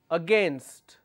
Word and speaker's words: against: If I have a word here which is against, the actual pronunciation is against. But people make mistake and they make it sound like against. Instead of saying against, they say against. which means they are adding another syllable here.